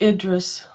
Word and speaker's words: Idris: but i'm just like hydras elba's getting up there in age but what about idris alba for doctor who interesting it's pronounced idris is it oh i'm